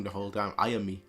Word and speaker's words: Ayanami: I've said her name wrong the whole time. Ayanami. Ayanami.